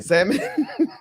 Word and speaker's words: salmon: um like I'm not gonna try it again samon Colonel uh colel okay so it's it's silent